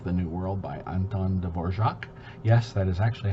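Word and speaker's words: Dvořák: symphony number five the new world by anton de borjak yes that is actually how you say his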